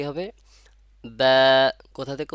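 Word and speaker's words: ب: হয়ে যাবে তাহলে মাখরাজ বার মাখরাজ কোথা থেকে দুই ঠোঁট থেকে মাথায় রাখে দেন দুই ঠোঁট থেকে বা বলবো না বা বা একটু চওড়া টাইপের হবে ঠোঁটটা বা শুনতে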